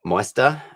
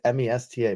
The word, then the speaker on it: Moesta: We're with Bob Moesta. Yeah. I think I overpronounced the E. Yeah, it's just say that it's say it like it's Mesta.